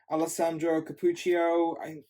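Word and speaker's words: Alessandro Cappuccio: on this issue is alesandro capucho is how it's pronounced it looks really good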